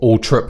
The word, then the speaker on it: Althorp: lot of time at Althorpe. But Altrip, I think, is he wanted it to be pronounced for a while. I think he's given up on that now. Right. It's been the old-fashioned pronunciation.